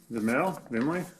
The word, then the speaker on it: VIMLE: VIMLE. That's how to pronounce this again.